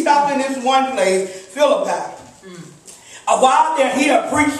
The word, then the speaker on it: Philippi: And I know a lot of people pronounce it a lot of different ways, but I'm going to say Philippi.